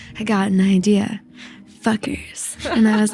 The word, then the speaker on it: FCUKERS: And we are very pleased to have with us FCUKERS.